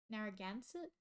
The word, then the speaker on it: Narragansett: Narragansett?